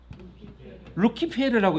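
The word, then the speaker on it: Lucifer: 이게 라틴어로 읽으면 뭐래요? 시작. 루키페르라고 읽습니다.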